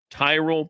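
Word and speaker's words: Tyrol: It's Tyrell Pickleball Shoes. You spell it T Y R O L. Tyrell Pickleball Shoes.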